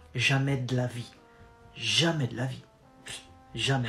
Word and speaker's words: jamais de la vie: No way is jamais de la vie. Jamais de la vie. And then you go fast and you contract de and la. Jamais de la vie. Jamais de la vie.